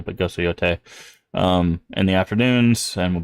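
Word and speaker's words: Yōtei: I don't think anybody really cares if you call it Yotai or Yotei, but I mean, probably somebody cares. But we'll try to remember to pronounce it correctly. But Ghost of Yotei in the afternoons, and we'll be continuing that.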